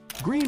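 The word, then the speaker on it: Gruene: Pronounced green and located along the Guadaloop River near New Bron Falls.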